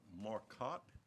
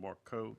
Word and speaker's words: Marcotte: It's Marcotte. Did I get that right? That is correct. I know I have, and I want to apologize right from the get-go, pronounced your name Marcotte in the past, and I think a